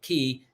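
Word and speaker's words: Caye: yeah by the way sure key is spelled c-a-y-e c-a-y or k-people say k but key c-a-y-e key international bank and that's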